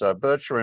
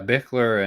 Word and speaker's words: Bichler: got written to by, how do you pronounce their names? Bircher and Nitzen? I never got it right. Yeah, Bichler and Nitzen.